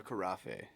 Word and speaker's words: carafe: A carafe. The carafe. Is that how you say it? Carafe. Let us know in the comments below. Carafe. Yeah, carafiel. Rhymes with coffee, carafe.